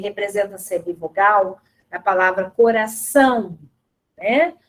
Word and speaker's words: coração: Depois a gente tem a letra O, que também representa a semivogal, a palavra coração, né? Coração é terminado com O, mas o som do O é o som de U.